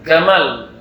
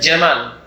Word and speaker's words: Jamal: Ketika ngomong dengan beliau bahasa Arabnya, jim itu jadi G. Jim itu jadi G. Ya, Gamal. Nama orang Mesir ada Gamal. Gamal ada nama orang Mesir ada. Sebenarnya Jamal.